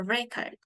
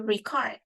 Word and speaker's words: record: on the first syllable for example if I have the word record a record so you can see a record is now so it is put stress on the first syllable however if I have another word like to record it's a verb so we usually stress on the second syllable to record and a